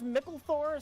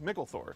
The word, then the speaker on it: Mickle Thor: I'm with you because micklethor sounds like it could be a normal name until you see how it's spelled because it's not it's it's not it's not John micklethorpe yeah it's John Mickle